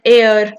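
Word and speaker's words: heir: एच एन आर an honest man honour honourable mention N एयर। बच्चे H silent है। एयर एयर मतलब वो इंसान जो इन्हहेरिट करता है।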